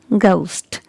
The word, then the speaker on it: ghost: pronounce it like vegetables okay another word is ghost ghost so here letter each is silent so it's ghost ghost now this is another word which is